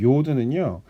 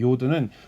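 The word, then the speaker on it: י: 그 다음에 10번째 자음은 요드라고 하는데, 이 요드는요, 다른 자음들 중에서 제일 작은 자음인 것 같아요. 왜냐하면 이 사각형의 반의 반을 사용하거든요. 그래서 이렇게 찍습니다. 마치 영어의 어퍼스트로피를 찍는 것 같은 느낌을 주시면서 쓰면 되는데, 이 요드는 손의 모양에서 유래가 되었다고 하고요.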